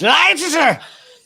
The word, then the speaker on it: Leicester: So this is so this site in Leicester is pronounced Leicester factory where weaponry is manufactured and then exported directly to Israel.